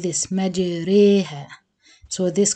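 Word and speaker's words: مجراها: That means to pronounce the ra between the alif and the ya. It's not majara and it's not majiri.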